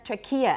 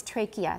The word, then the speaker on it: trachea: and you said trachea there's an old pronunciation that's trachea and that's going to come up in an exercise in the book later on but the way we say it now is trachea that's right it just